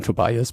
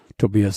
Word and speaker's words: Tobias: pronunciation of your name this is tobias you might call him tobias but tobias is a little bit more perfect so how to be